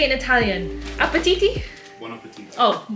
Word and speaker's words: buon appetito: Buon appetito. Oh, buon appetiti.